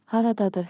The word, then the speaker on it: Haradadır: And for practice, you can also say Haradadır xəritə? Pronunciation beat. Clap with me. Rhythm makes memory sticky. Haradadır. Ta ta ta ta.